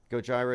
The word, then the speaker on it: Gojira: to write the news in advance goira okay Gojira it's Gojira well however it's pronounced it it's the isn't it the Japanese